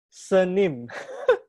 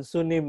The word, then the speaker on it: sunim: saya bacanya Bu katanya bukan Haim sunim bacanya ha senim jadi sunimnya itu e bacanya bukan sunim tapi senim eh ya senim ya jadi seperti Senin tapi diganti m Senin ya Oke kita